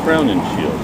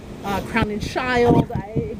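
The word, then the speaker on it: Crowninshield: That was pronounced very different ways, and part of the issue, of course, is that it's a German name. So we have no idea what to do with it, those of us who have an English background. I would hear it pronounced Crown and Shield, Crown and Shield, Crown and Shield, Crown and Child. It really it depended on who was doing it.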